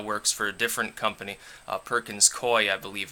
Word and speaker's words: Perkins Coie: Lopez, who now works for a different company, Perkins Coie, I believe it's pronounced, was emailing several people from the DNC,